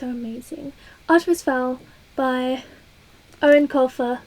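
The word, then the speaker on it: Eoin Colfer: amazing Artemis Fowl by Erin Colfer that's how you pronounce his name it's an Irish name oh these are both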